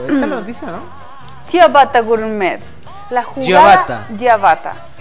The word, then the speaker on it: ciabatta: Y me enseñó que es Ciabatta. Así se pronuncia esa palabra.